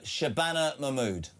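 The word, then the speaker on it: Shabana Mahmood: Uh Shabbana Mammud. Shabana Mammud.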